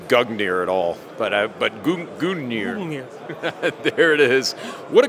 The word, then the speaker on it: Gungnir: going to say guger at all but but goir there it is what a great tfb TV